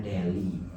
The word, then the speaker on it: Delhi: Delhi bacanya Deli ibu kota bukan ibu kota, kota besar di India.